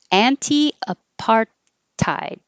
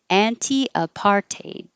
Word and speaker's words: apartheid: apartheid or apartheid so you can say an anti-apartheid anti-apartheid or anti-apartheid anti-apartheid i think i hear it most common is anti-apartheid so maybe that's what most americans say anti-apartheid courage courage earth